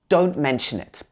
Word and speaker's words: don't mention it: response you could say don't mention it so in this phrase don't we wouldn't say the last normally it would be don't mention it don't mention it so